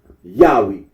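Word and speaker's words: Yahweh: that of those who regard this name as anciently pronounce yahwe like the Samaritans so there's a lot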